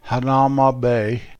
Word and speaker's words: Hanauma Bay: it's actually shelter bay the locals don't called hanauma bay they called Hanauma because the bay is